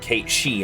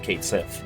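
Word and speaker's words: Cait Sith: Or how it's, you know, how it's pronounced Kate Shei instead of Kate Sith.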